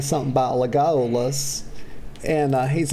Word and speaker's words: Legolas: Y'all, it's Legolas.